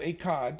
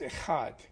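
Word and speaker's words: echad: in Hebrew Hebrew is e-c-h-a-d pronounced it's not akad or a Chad it's a heart I think many of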